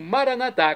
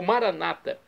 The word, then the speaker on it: Maranatá: católicos, ou Maranatá, ou Maranata. Nós colocamos a sílaba tônica na última. Maranatá. Nossos irmãos separados das comunidades evangélicas ou protestantes colocam a sílaba tônica no Maraná, no na, Maraná.